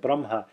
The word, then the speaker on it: Brahma: long vowel for example the short vowel at the end of Brahma they might think you're making it into Braha long a which it turns out means something different from Brahma you actually change the meaning of the word when you make a short vowel longer than it should be see we don't